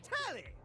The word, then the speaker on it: Tally: Her name's Tally. rhymes with Nelly.